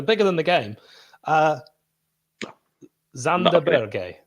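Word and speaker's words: Sander Berge: than the game uh zanda berger zandaberge that's how you say it let's let let's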